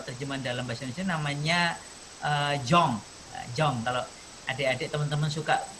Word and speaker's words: Jong: Kenapa kok Jong tulisannya JO? Bacanya benar nggak ya? JONG. Ada yang baca Jong, ada yang baca Yong. Dari bahasa Inggris juga Yong, muda.